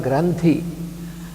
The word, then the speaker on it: granthi: In Sanskrit, gland is called granthi. На санскрите слово железа Granthi произносится как грандхи.